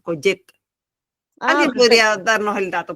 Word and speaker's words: Collet: Yo entiendo que la doble L en el es tal cual como la pronunciamos nosotros, Coyet.